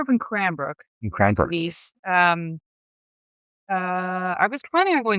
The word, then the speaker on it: Rejvíz: in the world-renowned international medical rescue competition, Rallye Rejvíz.